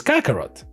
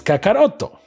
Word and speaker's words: Kakarot: Vegeta plus Kakarot right in English is Kakarot but in Japanese it's kakaroto and this is the